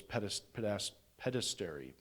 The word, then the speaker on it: pederasty: of homosexual activity in the Greco-Roman world was pederasty. Pederasty, that's how you pronounce it.